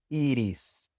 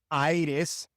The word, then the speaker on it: iris: It is always E, such as in iris, iris. It is not iris or iris. No, it is iris, iris.